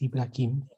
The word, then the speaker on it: Ibrahim: nos dejó el patriarca ibrahim porque su pronunciación más cercana que podemos tener de de su nombre es ibrahim es el monoteísmo